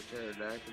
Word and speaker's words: pterodactyl: you never hear a pterodactyl go to the bathroom cuz the the tea is silent the p is silent yeah the p p